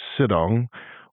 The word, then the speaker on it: sidong: inclusion and pronunciation of the word sidong, which, in addition to having an -ong song at the end, is not really a portmanteau or word formed by mashing two words together, but rather just a faster, more lyrical way of saying sit down.